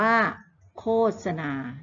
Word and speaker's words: โฆษณา: เด็ก ๆ ดู เนาะ คำ ว่า โฆษณา อ่าน ว่า โฆษณา นะ คะ อ่าน ว่า โฆษณา นะ ลูก นะ ต้อง อ่าน ให้ ถูก ต้อง ด้วย นะ คะ โฆษณา เป็น